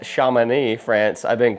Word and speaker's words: Chamonix: Right now I am in Apparently it's pronounced Chamonix, France. I've been pronouncing it Chamonix this whole time.